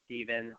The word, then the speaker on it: Stephan: on the show, Stephan, all the way back from episode number 5, Shotgun Media. Stephan, Stephen, what's everybody call you these days? The man? Yeah, Stephen is how it's pronounced, but yeah, I get